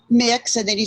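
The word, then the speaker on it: Mx: we do have a codified uh gender-neutral honorific of mix uh there's a variety of ways to pronounce it i do like mix uh very much um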